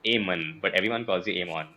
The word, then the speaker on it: Eamonn: do I call you aan because technically it's aan but everyone calls you Amon so it's a